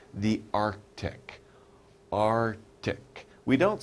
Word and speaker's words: Arctic: already talked about it it's called the Arctic are tick we don't say really we don't really pronounce that see we don't say Arc ticked